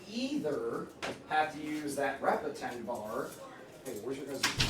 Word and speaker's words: repetend: It's called repetitive. Repetend. Yeah, Sophie actually pronounced it right.